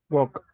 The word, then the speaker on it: walk: For example, these words, guys, if you notice, we don't pronounce the letter L. For example, how do we say this word? Walk.